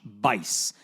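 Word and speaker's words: Buice: Okay, let me tell you about a guy named Josh Vice. His name is spelled B U I C E, but it rhymes with lice.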